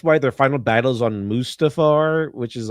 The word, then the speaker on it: Mustafar: That's why their final battles on Mustafar, which is like, you know, all this fire and crap, which is the correct pronunciation, Chad. Mustafar.